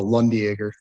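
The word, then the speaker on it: Landjäger: stick is so there's a Swiss beef stick called a lundager it's spelled like uh land Jagger but it's a lot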